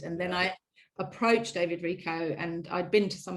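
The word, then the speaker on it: Richo: out david rico r-i-c-h-o so it's rich oh but it's pronounced rico and he's not that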